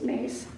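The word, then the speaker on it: Myss: conversations with the Divine it's spelled m-y-s-s but I think it's pronounced mace she said in keeping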